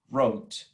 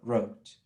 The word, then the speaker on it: wrote: Oh, well, just being mamon, the pronunciation of the word wrote, okay? Wrote. No hay W, ni en presente, write, ni en pasado, wrote. Empieza con la R el sonido.